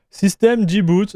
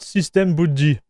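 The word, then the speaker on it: systemd-boot: System dboot, not system bootd. Funny hearing you say it wrong.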